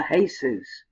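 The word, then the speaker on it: Jesús: these use the Haze's in Spanish that's exactly how you would say this use would be pronounced the hey Seuss and that's the son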